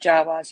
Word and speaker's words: Jawa: Well, no, it kind of looks like a Jawas. Am I saying it right, Sandy? Like Jawas, yeah.